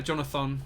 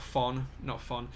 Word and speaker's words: Jonathan: Jonathan, not Fon. Interestingly, it is spelled all O's as well as Jonathan. It's spelled JONOTHON, so there you go.